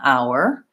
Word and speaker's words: hour: home phones same pronunciation so in this case we don't say the H sound in our we start with that same I'll foul and just like flower we have the wah sound and then the Earth